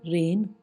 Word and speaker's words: reign: REIGN, रेन, शासन।